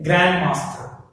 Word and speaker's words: grandmaster: The same way, grandmaster. What is it? Grandmaster. Grandmaster. Stress falls on the grand.